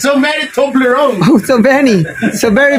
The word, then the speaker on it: Toblerone: Oh my God, Toblerone. Toblerone. Oh, yeah, that's the correct pronunciation.